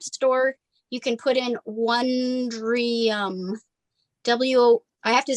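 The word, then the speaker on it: Wondrium: sign language and again you said that was one dream yes and it's on YouTube it's on so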